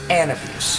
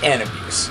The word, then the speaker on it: Anabus3: way it should be this is how to pronounce Ann abuse that's right the band name is Ann abuse since so many people including a member or